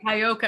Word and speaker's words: Cuyahoga: So Caiocca? I would say Cuyahoga. Am I wrong? Cuyahoga?